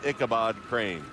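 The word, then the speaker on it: Icabad Crane: But even though it's got the A in there, it's pronounced Kabad Crane.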